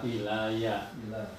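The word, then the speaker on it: إِلَيَّ: Ilaya. Sekarang digandeng ilaya. Jadi ilaya dengan ya domir, maka dibacanya ilaya.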